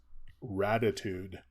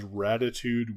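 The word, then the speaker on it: Raditude: Bell in the 2000s ratitude that is ratitude with a D r-a-d-i-t-u-d-e um it has in case my pronunciation threw you off it has absolutely nothing to do uh with Ratatouille so let's just make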